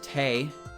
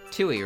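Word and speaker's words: Tewi: it's pronounced t-e-i and the w is like silent it would seem really weird to read and because i used to call her uh tooie right like yeah that's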